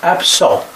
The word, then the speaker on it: absent: The first one is pronounced absent. You don't pronounce the T.